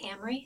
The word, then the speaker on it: Amory: So, as I mentioned, my name is Amory. If it helps, it rhymes with Camry, like the car.